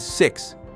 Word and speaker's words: six: Number six is six. Sounds like C's.